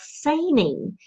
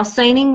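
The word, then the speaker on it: saining: interesting there there's an old Scottish tradition called seining and I'm gonna spell it for you in case you want to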